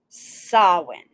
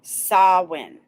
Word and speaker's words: Samhain: it right there because people try to pronounce the m and the h that's no no so when okay all